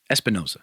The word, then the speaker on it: Espinosa: And they have a quote that they tweeted from director Daniel Espinosa. Am I saying it right? Hold up. Espinosa, yeah.